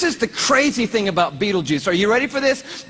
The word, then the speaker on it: Betelgeuse: heard about this star it's called beetle G's or Beetle Juice she can pick your pronunciation I'm obviously going with Betelgeuse and Betelgeuse is incredible